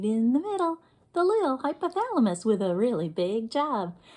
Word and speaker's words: hypothalamus: Let's clap the syllables in hypothalamus. Let's do it again. Hypothalamus. Let's do it faster. Hypothalamus. Do it again. Hypothalamus. One more time. Hypothalamus. That was 5 whole syllables.